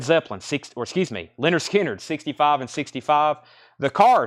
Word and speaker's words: Lynyrd Skynyrd: that one was 44.99 Lynyrd Skynyrd pronounced Leonard Skynyrd this needs to go